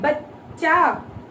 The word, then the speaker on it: बच्चा: देखिए हम सीधा लिखते हैं बचा, तो ब और चा आएगा। अगर हम बोल रहे बच्चा तो आधा च और पूरा च आएगा।